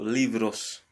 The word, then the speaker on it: libros: So the B is pronounced as a V here. So libros.